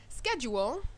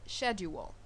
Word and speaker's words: schedule: speaking well right so for example the word schedule could also be said as schedule so these are differences in pronunciation vocabulary means basically the